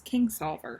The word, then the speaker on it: Kingsolver: was Kings lover this whole time but it's Kingsolver it's kings alder Kings Oliver yeah so I learned up how to pronounce it but yeah play someone Bible great